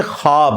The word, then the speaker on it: ख्वाब: शैतान नहीं आ सकता अच्छा ये लफ्ज लिखने में है ख्वाब खवा व अलिफ बा लेकिन पढ़ने में यह ख्वाब है वाओ साइलेंट हो जाता है ख्वाब पढ़ा जाता है ये लफ्ज उर्दू में